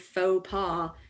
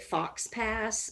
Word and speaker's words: faux pas: they're pronounced faux pas if the first time you saw the word faux pas you didn't pronounce it fox pass then you're just a genius right faux pas fox